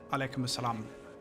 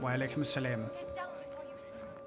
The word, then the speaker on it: wa alaikum assalam: A lot of people say salam alaikum, alaikum assalam, which is not how you say it. Salam alaikum, wa alaikum assalam. Salam. There's an I in there, and a lot of people don't do that.